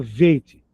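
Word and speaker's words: ב: Beit é o B de bola. Tirou o ponto de dentro, ficou veit como viola, violão.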